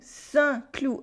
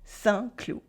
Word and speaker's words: Saint-Cloud: Saint-Cloud, a French city near Paris with a silent D. Saint-Cloud.